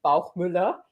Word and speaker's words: Bauchmueller: So yeah, my last name is Bauchmueller.